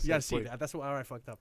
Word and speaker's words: Yasiel: Yasiel. Yasiel.